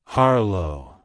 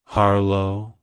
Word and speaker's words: Harlow: surname it's pronounced as harlo harlo harlo to pronounce it correctly emphasize the first syllable h r and pronounce the second syllable low with a soft o sound avoid emphasizing the second